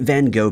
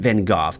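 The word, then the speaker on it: Van Gogh: theft of a Vincent Van go painting or Vincent Van gof depending on what pronunciation you prefer back in 2020 was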